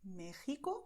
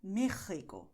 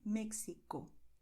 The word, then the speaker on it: México: But it will not pronounce Mexico. This is wrong, okay? So do not do that because, well, the letter X in Spanish does sound like taxi, generally in Spanish, but Mexico is an exception.